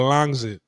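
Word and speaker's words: Rangsit: So the north side of Bangkok is is a little town called Rangzit, right? The way Tai pronounced is called Langzit.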